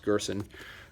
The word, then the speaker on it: Gerson: I believe his last name is pronounced Gerson.